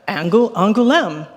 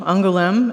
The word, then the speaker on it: Angoulême: Here, Angoulême.